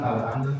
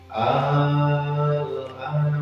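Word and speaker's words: آلآن: Nah, ini kalimat al-ana merupakan mad lazim mukhaffaf kalimi. Jadi pembacanya agak beda. Tidak langsung tapi panjang dulu. Al-ana gitu. Kita baca Al-Qurannya. Surah Yunus ayat 91. A'udzu billahi minasyaitonir rajim. Bismillahirrahmanirrahim. Al-ana wa qad asayta qawlu wa kunta minal mufsidin.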